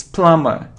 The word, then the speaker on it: plumber: cone it's comb oh and without beef don't pronounce be comb comb it isn't plumber' hello lumber it's plumber it's plumber without diploma it isn't column not